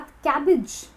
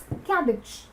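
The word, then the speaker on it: cabbage: और उसके साथ साथ कैबिज। अब ये वर्ड जो है थोड़ा सा कंफ्यूजिंग है प्रोनाउंसिएशन के लिए। इट्स कैबिज, इट्स नॉट कैबेज, इट्स कैबिज।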